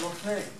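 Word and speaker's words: Lough Neagh: And you have these fantastic sites, like Loch Ney. I'm not sure if I pronounced that right.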